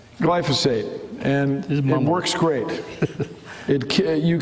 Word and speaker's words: glyphosate: That doesn't quite, I didn't say it right. It's a GLY word, and it's important. Glyphosate.